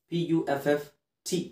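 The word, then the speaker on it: puffed: ಪಫ್ಡ್ PUFFT ಸಾಕು. PUFFT ಅಂತ ಬರ್ಕೊಳ್ಳಿ, ಅದನ್ನೇ ಓದಿ.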